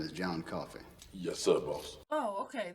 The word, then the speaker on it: Coffey: Your name is John Coffey. Yes, sir, boss. Oh, okay, that's John Coffin. Okay. Like to drink, only not spelled the same.